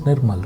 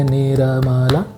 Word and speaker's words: Nirmal: Don't say Niramala. No, that's not my name. My name is pronounced as Nirmal, so clap. Nirmal. Twice, right? So 2 syllables.